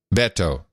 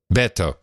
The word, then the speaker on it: Beto: to pronounce it now it's Beto Beto yeah it's like saying Roberto you just dropped a row and the earth Beto